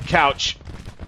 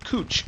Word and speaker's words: Couch: All right, routed Couch. Or Cooch, I do believe is how you say it.